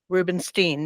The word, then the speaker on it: Rubinstein: Meghan Rubinstein. I want to say it correctly. It's Steen. Rubinstein.